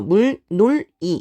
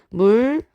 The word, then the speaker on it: 물놀이: 자 물놀이 같은 경우에는요 앞에 있는 리을 때문에 뒤에 있는 니은이 영향을 받죠 그래서 물놀이 이렇게 끊게 되는 것이 아니라 물로리 요렇게 발음을 하게 됩니다 그죠 자 그다음에 실내도